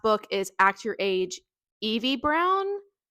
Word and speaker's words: Eve: Eve Brown. I I feel like it's spelt like Eve, but the other Brown sisters have a sounding E at the end, like Chloe, Danny, so EV Brown, right?